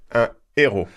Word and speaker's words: héros: Un héros. Un héros. So there's no liaison. It is completely forbidden.